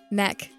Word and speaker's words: Mech: So, like you think it's Mac? It's probably just the way I pronounce it. Is it Is it not Mac? It's not Mac. What is it? Mech. Mech. Like mech. Mechanic mech. Yeah.